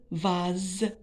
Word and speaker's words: vase: Mais la lettre S entre 2 voyelles, les voix A et E. Donc, je prononce Z, vase.